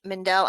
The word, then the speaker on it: Mendel: I think it's Mendel.